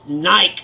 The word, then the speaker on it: Nike: what is all this Nike stuff and they said Rick it's called Nike and I said it's spelled Nike so they discontinued shotguns